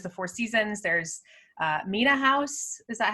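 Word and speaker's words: Mena House: of course there's the four seasons there's uh mina house is that how you say it yeah which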